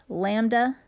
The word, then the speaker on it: lambda: down and backwards y that is pronounced lambda and we're going to